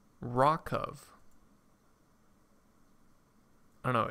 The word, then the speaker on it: RWKV: It's pronounced Rockov. Rockov.